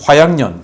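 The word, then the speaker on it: 花样年: 이거 발음 잘해야 될 것 같습니다. 화양년. 그래서 돌아올 환자가 아니고 꽃화자. 그리고 모양할 때 양자입니다. 이 그 화양년 이 회사가 여기도 뭐 부동산 개발 그리고 투자 회사예요.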